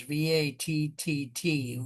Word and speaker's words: VATTT: So title of the poem is VATTT, which I would say would be pronounced VAT.